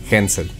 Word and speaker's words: Hansel: me decía enseña 8 y que se pronuncia hensel en